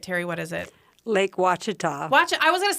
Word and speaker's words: Ouachita: Lake Ouachita. I was going to say Ouachita, so that's what I keep doing.